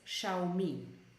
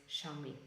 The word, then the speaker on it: Xiaomi: these smart things so we pronounce it as xiaomi xiaomi but this is also as I said Chinese company but the name is xiaomi okay I hope that